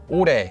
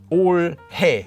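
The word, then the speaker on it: 올해: word for this year is just pronounced as ure not as or hey which would sound really awkward and next we have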